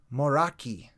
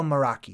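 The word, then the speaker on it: Moeraki: do you pronounce that moraki probably moraki anyway so i'm going to go meraki because it sounds like more rocky all right the meraki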